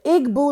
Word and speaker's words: Igbo: It's spelled O-M-U, but it's pronounced Amu. Amu is the word from the Igbo language, from people who live in Nigeria, the